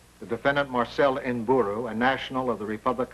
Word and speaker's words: Nburu: How do you pronounce the name? N-B-U-R-U.